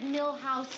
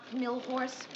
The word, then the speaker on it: Nixon: Grant asked me to remind you it's Richard Milhouse Nixon, not Millhorse.